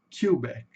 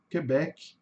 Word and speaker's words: Quebec: Kback, tá? Quebec. A gente fala queback em português, né? Aqui, só para uma curiosidade, a sílaba tônica aqui no inglês tá no final, né?